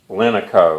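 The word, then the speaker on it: Lineco: It's made by a company called Linico. I've heard it pronounced Linico, but it's made of linen, so it makes sense to me to call it Linico.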